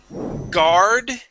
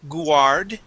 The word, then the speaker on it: guard: yes now class um guard okay guard and heart these are these are some of the uh the uh ones that I hear most where where um English Learners make mistakes okay we would not say gu okay this is R goes right to the r sound guard okay and this